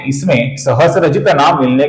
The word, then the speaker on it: सहस्रजित: यहां पर गौर से देखिए, ये स्त्री का स्त्र नहीं है, ये है स और र अर्थात स्र। इसका कुछ लोग सहस्त्रजित ऐसा गलत उच्चारण करते हैं। इसका सही उच्चारण है सहस्रजित, सहस्रजित।